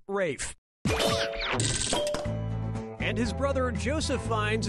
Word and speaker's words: Ralph: for yep ray Fiennes first name is spelled like Ralph but pronounced Rafe and his brother Joseph